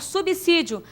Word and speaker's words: subsídio: Subsídio é uma palavra que se pronuncia com som de S, igual absoluto, absurdo.